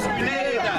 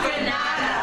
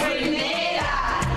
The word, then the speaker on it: Grenada: It's Grenada. It's not Grenada. It's Grenada.